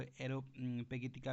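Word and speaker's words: Areopagitica: न का important work एरो पेटिका तो इसको एरो पेटिका भी प्रोनाउंस किया जाता है तो दोनों सही है एरो पज का लिबर्टी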